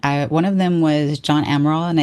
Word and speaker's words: Amaral: One of them was John Amaral, and I said his name correctly at the beginning, and then towards the ending, I reference him as well, and I say his name incorrectly. I think I say something like John Armada or something like that.